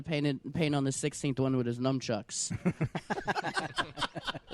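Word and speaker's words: Sistine: the other day I found out that's pronounced the 16 chapel and not the 16th chapel like my entire life I thought there were 15 other chapels that were just not working out uh until Michelangelo decided to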